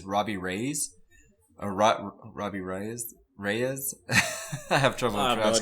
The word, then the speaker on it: Reyes: raise a rock Robbie Reyes Reyes I have trouble about yeah last name re y es how would you pronounce it i'm having trouble are you why yes yeah yeah ray ray is yeah so he's he's